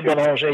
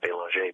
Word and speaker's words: Belanger: France, I pronounce it Belanger, but here in America, uh-huh, it's actually Belanger. Oh, is it really? Yeah. No, but I when in Canada, when in France, I freely pronounce it the French way, and I'm happy to do so.